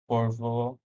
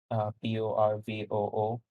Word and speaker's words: Porvoo: Uh, Towns here are Porvo, Porvoo, Okay. uh, Juornakila. I should just spell it out.